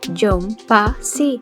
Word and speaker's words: Young Posse: bastante sospechoso John pasi que en coreano se pronuncia joh pa si y que tiene un